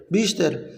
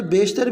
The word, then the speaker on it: بیشتر: اسے بیشتر نہیں پڑھا، اصل جو تلفظ ہے وہ یا سے پہلے ہمیشہ زیر آتی ہے، بیشتر، لیکن آپ اسے بیشتر بھی پڑھ لیں گے تو گزارا ہے، کوئی مسئلہ نہیں۔ انہوں نے اپنی زندگی کا